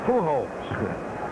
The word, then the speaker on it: Pujols: The catcher, Louis Pujols, who's nothing out of 2. I always forget to pronounce the J's like H. That's why I call him Good Kid. Should be Pujols.